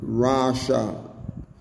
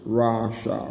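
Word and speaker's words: רָשָׁע: And Rasha is the way it's pronounced. Rasha, Rasha, Rasha.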